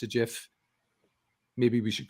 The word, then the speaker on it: GIF: Because there are words that begin with G, like giraffe and so on. It doesn't have to be a hard G. The inventor of the format says it's a GIF.